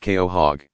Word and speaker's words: quahog: very long time with a Quahog pronounced Keo hog living around and fifty